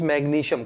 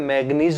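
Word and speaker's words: magnesium: 16, sodium 23, मैग्नीशियम, this one इज मैग्नीशियम। कई बच्चे pronounce ही गलत कर देते हैं, मैग्नीज बोल देते हैं, वो गलत है।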